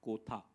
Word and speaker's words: Kotha: guys to tell them it is king of kotha and not the usual Hindi pronunciation um so it's in